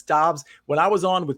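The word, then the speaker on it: Doubs: just go with romeo most people say dubs i believe it's dobbs when i was on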